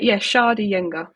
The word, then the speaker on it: Sceadugenga: Yeah, Sceadugenga.